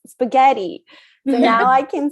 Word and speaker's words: spaghetti: One time they corrected me the word spaghetti, which is an Italian word, and they say it's not spaghetti, it's spaghetti.